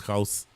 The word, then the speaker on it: Gauss: I'm really interested, in seeing vice captain, wicketkeeper, and batter extraordinaire Andreas Gauss. It's a very difficult name to pronounce, by the way. It's Gauss.